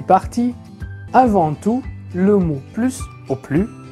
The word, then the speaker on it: plus: maintenant au cas où on ne prononce pas le S du mot plus donc on dit plus premièrement quand il est